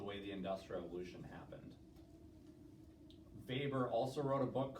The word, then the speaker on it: Weber: Weber. He's German, but it's spelled like Weber, so W-E-B-E-R.